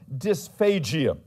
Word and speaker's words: dysphagia: in body systems someone who is suffering from dysphagia that's spelled d-y-s p-h-a-g-i-a dysphagia someone suffering from dysphagia